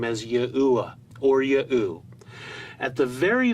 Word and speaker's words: Yahuwah: that defines for us how we should pronounce the last letter He in the divine name, which is always spoken as a short A or an Ah sound, and not the long A sound we hear in Yahweh.